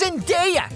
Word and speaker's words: Zendaya: It's pronounced Zendaya, idiot! Get it right!